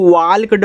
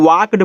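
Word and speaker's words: walked: देखो इसको वाल्क्ड मत पढ़िएगा। इसको वाक्ड पढ़ते हैं क्योंकि जब ए के बाद एल हो और एल के बाद के आ जाए तो एल आपका साइलेंट होता है।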